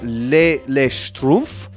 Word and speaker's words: Schtroumpf: The first the name comes from, you know, I meant to put a pronunciation. It's Le Schtroumpf.